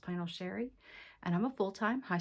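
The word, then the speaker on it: Chere: It is spelled a little fancy but pronounced pl Sherry.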